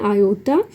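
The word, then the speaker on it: iota: Small I का symbol use करते हैं और उसके प्रोनाउंस करते हैं आयोटा।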